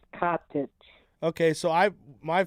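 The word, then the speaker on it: Katić: And did you pronounce it Kadic or cottage? Uh, it would be pronounced cottage.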